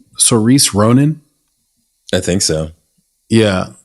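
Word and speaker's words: Saoirse: It has, do you pronounce her name Cerise Ronan?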